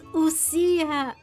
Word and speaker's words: ousia: Oh, it's ousia. I've I haven't pronounced this word even once correctly, I think.